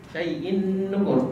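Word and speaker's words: شَيْءٍ نُكُرٍ: Syai'i, syai'i, syai'in nukur.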